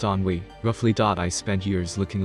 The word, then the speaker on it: ennui: It's pronounced ennui, roughly.